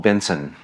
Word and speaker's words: BNSN: And then that just became bigger and bigger and and now it's become what's called Benson. And yes, it's after my last name, but it's spelled BNS. Okay. BNSN.AI. And Benson is going to be